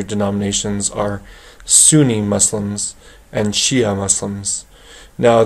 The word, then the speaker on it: Shia: are Sunni Muslims and Shia Muslims now the Shia or sometimes pronounced Shiite literally means the party or